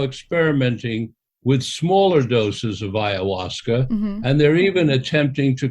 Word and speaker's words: ayahuasca: I've heard you speak a little bit about iasa am I pronouncing it correctly you are pronouncing it correctly iasa and um I was interested actually because from